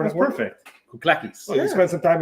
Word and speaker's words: Kouklakis: Well, how about you pronounce it? So it's Kouklakis. Kouklakis. Oh, yeah, all right. That's perfect. Kouklakis.